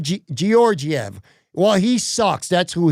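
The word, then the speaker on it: Georgiev: He's always going to be George EV. He's George EV to me. Although it's Gorg Gorgiev.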